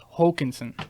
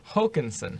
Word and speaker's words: Håkanson: It's actually the little "oa" is pronounced like an O, so it's Håkanson. Håkanson.